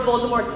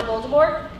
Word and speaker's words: Voldemort: I bet you can't even say Lord Voldemort's name right. Think I just said Lord Voldemort? That's right, right? Wrong. He's actually French, so it's pronounced Lord Voldemort, without a T.